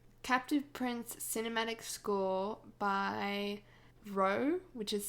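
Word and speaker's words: Roah: i listened to captive prince cinematic score by row which is spelt r r o a h on spotify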